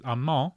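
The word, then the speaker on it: amant: subtitles, they spell A-M-A-N-T, which if this were French, that's how you pronounce that word is Amand. You wouldn't pronounce the N-T at the end.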